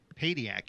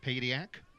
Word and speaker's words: Padiak: Padiak, excuse me, is how that is pronounced. Padiak.